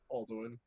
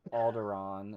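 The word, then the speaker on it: Alderaan: Aldwin or Oh, Princess Leia. Sorry. Sorry. Uh, that would be Aldwin. Yep. Aldin. Yeah. Al Aldderon is how it's pronounced.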